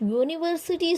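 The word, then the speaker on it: university: Question number 12 देखिए, ही is dash यूनिवर्सिटी student. पीछे मैंने बताया था, यूनिवर्सिटी, यूनिक, ये सब क्या होते हैं, वाई वाला प्रोनाउंसिएशन करते हैं, तो यहाँ पे ए आएगा, ठीक है।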